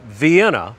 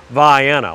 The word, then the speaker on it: Vienna: pass back and forth on i-75 but it's pronounced vienna now if you call it vienna to any of the locals around there they